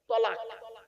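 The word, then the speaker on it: طلاق: তালাক। আচ্ছা তালাক আর তলাকের পার্থক্যটা কি একটু দেখিয়ে দিই আপনাদের তলাক মানে উচ্চারণটা কি তলাম ক আরবি উচ্চারণ লাম তলাক বাংলা উচ্চারণ কি তলাক তলাক মানে পৃথক দেওয়া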